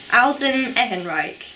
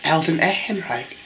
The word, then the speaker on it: Alden Ehrenreich: that guy yeah Alton ahead break again Mike Alden Ehrenreich yep I hope I still think we should hear it pronounced see I've got it right Alden Ehrenreich okay right he comes up you know he